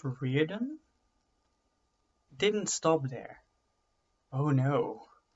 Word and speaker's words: Riordan: Now, a slightly less known fact, is that the author, Rick, I think it's pronounced Riordan, didn't stop there.